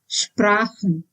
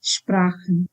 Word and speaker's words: Sprachen: If ch is preceded by either a or o or u, then it is pronounced as h, like in Sprachen. Sprachen means languages. Here ch is preceded by a, and that's why it is Sprachen.